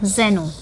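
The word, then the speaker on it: xeno: है और यह जो जेन होता है एक्स ई एन ओ यह आपका फॉरेनर होता है तो यह दोनों दोनों ही याद रखना है दोनों जगह हम प्रोनाउंस करेंगे जेनो का ही ठीक है तो यह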